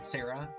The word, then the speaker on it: Serra: Sarah level?